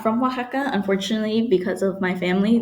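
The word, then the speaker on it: Oaxaca: without them now that I'm an adult anyways Waka and that's how you pronounce that Waka wakaa relates to the process the Spanish Conquest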